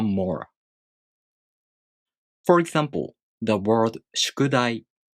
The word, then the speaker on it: 宿題: For example, the word 宿題. This word has 4 moras and takes 4 beats to pronounce.